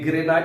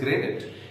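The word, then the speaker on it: granite: ये ग्रेनाइट नहीं होता। The correct pronunciation of this word is ग्रेनेट, it mean stone, पत्थर वगैरह।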